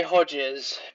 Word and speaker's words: Hodges: I just say Hodges, but I'm English, so that's how we pronounce it.